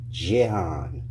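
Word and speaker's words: Gihon: Euphrates yes g i h o n is pronounced Jehan John I'll read it one more time a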